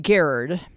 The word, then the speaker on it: Gerard: The true story told in, is it Gerard or Gerard? It's pronounced Gerard.